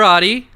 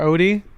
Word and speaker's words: Adi: Wang and I'm Adi hey Ethan sir OD nope not quite the Garfield character I'm gonna send you